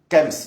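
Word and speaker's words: chems: Shems, c'est tout ce qui est drogue, alcool, sexe. Kems ou Shems, comme vous voulez. Mais ça s'écrit avec CH. Bon, nous en France on dit Shems, d'autres disent Kems, donc après.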